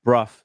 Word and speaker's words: Brough: very highly uh oh sorry it's pronounced bruff Sorry.